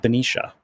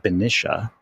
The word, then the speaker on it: Benicia: And I recently moved to the water's edge of Benicia. Benicia downtown is so freaking cool, I have to tell you. Now, if you're a local from there, apparently you pronounce it Benicia.